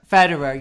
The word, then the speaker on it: Federer: do you know Wow is it better or Federer yes that one in eight pieces she